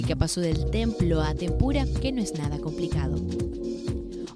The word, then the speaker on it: tempura: Tempora en latín es esdrújula y tempura en japonés es a un tiempo esdrújula y aguda y debe pronunciarse como tempura, y no como es habitual como palabra grave, con acento fonético en la sílaba intermedia.